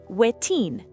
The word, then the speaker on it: wetin: Pronunciation reminder, wetin.